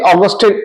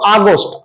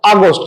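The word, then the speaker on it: august: আমরা উচ্চারণ করব অগস্ট অগস্ট মাসের নাম এক্ষেত্রে অগস্টের এটা দেখো ছোট হাতের হওয়ার কারণে উচ্চারণ আমরা আর অগস্ট করব না করব আগস্ট আগস্ট এক্ষেত্রে এর মানে হচ্ছে গৌরবময় বা রেসপেক্টেড তাহলে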